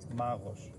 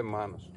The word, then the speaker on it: Μάνος: Μάγος χαδάς. Χατζιδάκης. Μάγος. Μάγος. Νομίζω προφέρεται Μάνος.